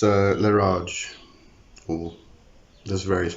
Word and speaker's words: Leraje: pronunciations to this one Lara J um I think some people will even put a bit of a French inflection into it and make it Le Raj um as far as